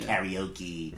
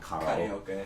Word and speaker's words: karaoke: A lot of Americans say like sake and karaoke, right? But it's sake and karaoke.